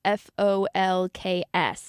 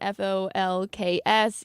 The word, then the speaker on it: folks: a short L okay do you pronounce the L in f-o-l-k-s yes or no I say folks I'm